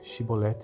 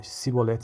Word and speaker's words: chibolete: respondesse que não diziam Então diga chibolete se ele dissesse a sibolete sem conseguir pronunciar corretamente a palavra prendia o no